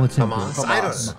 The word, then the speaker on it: Hamas: Which country is devastated by an unprecedented attack this week by Hamas? Am I saying that right? Yeah, Hamas.